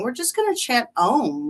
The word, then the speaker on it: Om: And M is a u m as we chant it. So, phonetically, it's um it's om, but as we're chanting, we're going to make our mouths go a m.